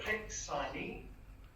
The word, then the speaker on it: Hiksani: It's HIT and then XI, so it sounds like Hiksani. Hiksani. But there's a Facebook and it has how to pronounce it. The HIT would just be like HIT in English. It's that XI. And then the Sani, to me, is like it's just sort of elongating the A.